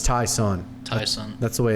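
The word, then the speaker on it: Ty'Son: to time tyson williams it's tyson or tyson it's t y apostrophe sun so not sure on the pronunciation there i think it's thai sun tyson that's the way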